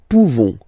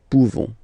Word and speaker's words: pouvons: So classic ending for nous, this ONS ending for nous, okay, nous pouvons, okay, you don't pronounce the final S, nous pouvons.